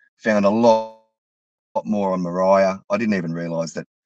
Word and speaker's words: Moriah: a lot more on Moriah. I didn't even realize that the Temple Mount in Jerusalem is Mount Moriah, you know, Maria. Yep. They even pronounce it Maria. Yep. It's even the same pronunciation.